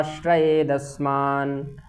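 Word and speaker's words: आश्रयेदस्मान्: श्रय दशमान श्रय दशमान ठीक यहां द का पूर्ण उच्चारण कर पाप मेवा श्रय दस् मान हत्व ताना तता इन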